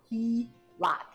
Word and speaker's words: HELOC: A home equity line of credit, often called the HELOC and pronounced HELOC.